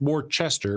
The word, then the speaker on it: Worcester: See, it's pronounced Worcester, but it's really fucked up.